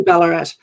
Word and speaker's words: Ballarat: island to the mines is that balarat have i pronounced that it's probably it's probably ballarat yeah colorado which state